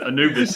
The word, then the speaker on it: Anubis: i guess right here i'm just saying it wrong anubis is what it is so yeah so oh